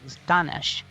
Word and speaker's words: Ganesh: it's not see no the original pronunciation of my first name was ganesh and i hold on